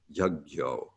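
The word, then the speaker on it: यज्ञो: a tilde over it combines the two to make a gya sound. So it's more like a GY sound rather than a JN sound. So the last word of the first line will be pronounced yagyo.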